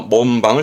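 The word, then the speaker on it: 門番: 그래서 발음은 몸방이라는 건 문을 지키는 거니까 뭐 문지기 이런 의미로서 몸방을 쓰게 됩니다.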